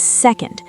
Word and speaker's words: second: The new ending is second. Stress the first syllable. Second. The un is super fast.